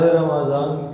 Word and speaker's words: رمضان: رمضان۔ رمضان کوئی لفظ نہیں، یہ قرآن کا لفظ ہے اور اس کا درست تلفظ میم مفتوح کے ساتھ ہے، رمضان۔ تو ماہ رمضان، شہر رمضان،